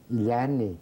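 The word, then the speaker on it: ilani: l a n i is that how you pronounce itani yeah iani yeah sometimes you know umani means it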